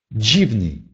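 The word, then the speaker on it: dziwny: Например, «дживный».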